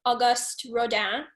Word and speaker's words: Auguste Rodin: It is a new musical about a turn of the century French sculptor, and you were playing Auguste Rodin. Mm-hmm. Who, good pronunciation, Tess.